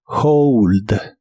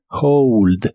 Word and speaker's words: hold: de inglés es Hold la H se pronuncia como una J suave de español y la o como ou Hold Hold en el presente lo